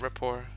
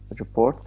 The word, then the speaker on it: rapport: Yeah, so the term for that when you have small talk with someone is to create rapport. Create report Rapport. That's how it's pronounced.